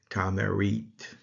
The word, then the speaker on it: Tameryt: bread, and that is transliterated as Tameryt, or pronounced Tamerit.